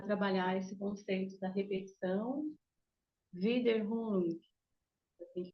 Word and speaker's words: Wiederholung: Então, pessoal, eu recebi um convite, né, para falar no Trilhas, para trabalhar esse conceito da repetição, Wiederholung, assim que pronuncia, né, com Freud.